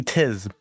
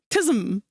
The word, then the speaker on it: tism: If you're reading it as a non-American, it'd be tis. Where does the M go? At the end. Tis. Why is your M silent? Tis? Tism. Tism. Tism. Tism. Your M has a muffler on it.